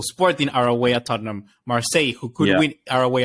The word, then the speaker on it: Marseille: on seven points I keep saying it wrong Marseille marcai you get it right up there uh Tottenham